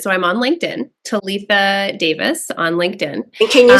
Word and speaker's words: Davies: l i CA ttha and then Davis is D- a v IES neither of my names are spelled the way that they're pronounced so follow me on